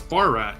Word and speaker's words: Barat: um you said uh Barat you were am I pronouncing that right or am I am I butchering that no it's bar rat yeah bar rat okay okay he doesn't